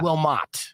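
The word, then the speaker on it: Willmott: like mont blanc there's no t in it there's no n in it there's no n yeah will mott yeah okay not mont right i know it's ridiculous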